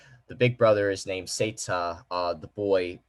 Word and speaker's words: Seita: Their names are the big brother is called, I'm trying to remember how you pronounce their names. Seita. Yeah, that's right. The big brother is named Seita, the boy right here.